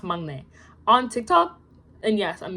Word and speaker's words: 막내: I didn't know it was pronounced 막내. On TikTok, and yes, I'm using TikTok as a source, which is not good. I always heard it pronounced as maknae.